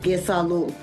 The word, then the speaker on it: Gesalul: It's all one sound, Gesalul.